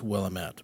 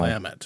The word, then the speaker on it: Willamette: Yeah, I always thought it was Willamette, but it's I know. Willamette, huh? I guess that's what the locals say, according to the internet.